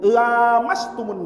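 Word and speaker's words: لامستم: Qiraah yang 6 baca panjang pakai lam alif mat tabi'i, lamastumun nisa. Imam Hamzah Az-Zayyad bacanya pendek.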